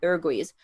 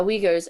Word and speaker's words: Uyghurs: muslims kept in the i believe it's pronounced the uruguay's um kept in conservation camps thank you uh uyghurs and captain concentration camps